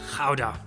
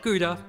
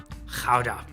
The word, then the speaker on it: Gouda: How do you pronounce it? I'm sure it's Hudo or something, right? Gouda. Not Gouda, not Gouda. Gouda.